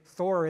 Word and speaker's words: Thor: So you think of some English T, and Thor isn't going to work because that's spelled with a T, but it's not pronounced T, it's pronounced Th.